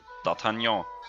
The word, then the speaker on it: d'Artagnan: same attack attack yeah that's how you pronounce it it's French d'Artagnan yeah the Mowgli really